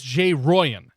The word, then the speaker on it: JRollon: Jay I'm telling me I'm being told us Jay Ryan because it's it's Spanish or something I will probably end up saying Jay Rowland because that's how it's spelled to me at least but here